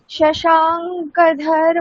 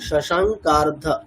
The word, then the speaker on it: শশাঙ্কার্ধ: শিবাকান্ত শম্ভো শশাঙ্কধর মৌলে, নাম দেখুন শশাঙ্কার্ধ, হ্যাঁ শশা ওটাই উচ্চারণ, শশাঙ্কার্ধ শশাঙ্কার্ধ, শশাঙ্ক মৌলে, অর্ধ যোগ করলে হ্যাঁ শশাঙ্কার্ধ।